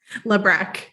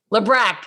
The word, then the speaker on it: Labrecque: here with alyssa and is going to pronounce her last name for me lebron lebreck okay i should know that she's been a